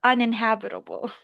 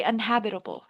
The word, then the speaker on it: uninhabitable: You're missing one syllable. Un. Careful for this word actually because um inh uninhabitable. The tendency for most speakers, especially if you're non-native, most non-natives just say unhabitable.